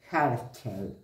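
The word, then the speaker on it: Herschel: a la astronomía del señor William miren Cómo se escribe h e r s ch e l jarcher en 1781 en el grado 25 del signo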